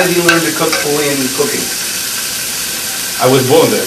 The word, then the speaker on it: Puglia: So the G is silent. It's Puglia. Yes.